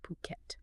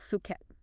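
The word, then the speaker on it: Phuket: in puket fuk yeah so you got to pronounce it properly puket puket got it not fuk okay puket puket and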